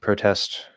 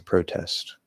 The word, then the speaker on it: protest: Do you pronounce the words protest and process differently when they're used as verbs as opposed to nouns? There's a protest. I'm going to protest. No. It's a process. It's processing. No.